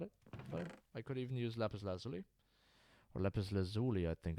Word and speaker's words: lapis lazuli: I could even use lapis lazuli. Or lapis lazuli, I think it's called. Lapis lazuli is the pronunciation in German. It's lapis lazuli, I think, right? In English.